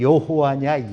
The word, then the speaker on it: 여호와: 그래갖고 이게 여호와냐 야훼냐, 야훼라는 말도 들어보셨죠. 야훼, 여호와. 그걸로 이제 두 가지 의견으로 이렇게 좀 부딪히고 있는데요. 보수적인 입장에서는 여호와라고 읽고 좀 진보적인 입장에서는 야훼라고 읽습니다.